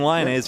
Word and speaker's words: Lemaes: Justin Lemaes, is that right? You say Justin Lemaes, is that how you say it? Yes, he would be Justin Lemaes, yes.